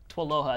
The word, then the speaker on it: TWLOHA: Twaloha. It's like aloha with a TW in the beginning.